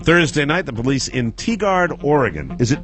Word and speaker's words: Tigard: On Thursday night, the police in Tigard, Oregon. Is it Tigard?